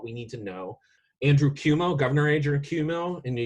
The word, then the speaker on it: Cuomo: Andrew Cuomo, Governor Andrew Cuomo in New York. Despite Cuomo, is it Cuomo? Yeah, okay, it's Cuomo.